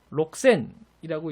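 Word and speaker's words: 六千: 로쿠센이라고 이제 발음해야 원칙대로 발음하는 건데, 일본어의 카키쿠케코 행에 해당하는 히라가나와 그 뒤에 사시스세소 히라가나가 나오면은 우리 이제 흔히 영어의 X 발음처럼 크스크스 발음 현상이 발생한다고 하잖아요. 그래서 로쿠센이라고 읽지 않고 록센이라고 읽어주는 게 자연스럽습니다. 그래서 일본어에도 사실은 이렇게 기억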